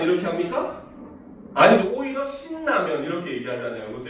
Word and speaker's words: 신라면: 발음해야 돼요 근데 여러분들 신라면 이렇게 합니까 아니죠 오히려 신라면 이렇게 얘기하잖아요 그죠 이름을 더 강조하기 위해서 신라면 이런 식으로 발음을 하거든요 이렇게 마찬가지로 유음화 환경인데